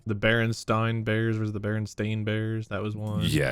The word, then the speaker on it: Berenstain: the spelling oh yeah i always thought it was the berenstein bears and it's the berenstain bears yeah berenstain bears michael